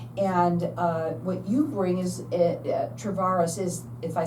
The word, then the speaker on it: Tavarse: And what you bring is, Travaris is, if I said, no, I did. Did I say it right? Tavares, I Yeah.